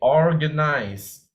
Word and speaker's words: organize: like Christmas Eve okay organize organize I heard someone mispronounce it as organize okay you need to pronounce the r in the OR and the third contrary